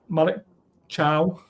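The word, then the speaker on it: Malik Thiaw: anyway let's go to Malik Chow that's how you pronounce his name uh there's a lot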